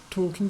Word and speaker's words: talking: Carl talking, in that case we have a silent L, talking with Mark, and